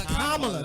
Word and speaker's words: Kamala: It's Kamala. That's the correct pronunciation.